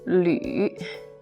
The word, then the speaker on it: 吕: This one, first of all, is pronounced as 吕.